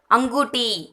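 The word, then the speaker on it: अंगूठी: Fourth, அங்கூட்டி, அங்கூட்டி. Ring, மோதிரம். ஆ இங் கு டி, அங்கூட்டி.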